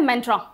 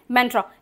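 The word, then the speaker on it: mantra: उसके अलावा आपके पास में हिंदी में शब्द है मंत्र। इंग्लिश में हो जाता है मेंट्रा। और इसका इंग्लिश प्रोनाउंसिएशन भी ऐसा ही है। तो मैं प्रेफर करूंगी कि आप ऐसे ही प्रोनाउंस करें। सो दैट आप बेसिक इंग्लिश ग्रुप में आ सकें। ठीक है? इसको कहते हैं मेंट्रा।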